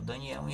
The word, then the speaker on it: Daniel: livro aí de Daniel nós aqui pronunciamos Daniel Daniel em hebraico é o mesmo nome mas a pronúncia é como Danielle Daniele significa Deus é o meu juiz eles pronunciam Daniele nós falamos Daniel né porque é a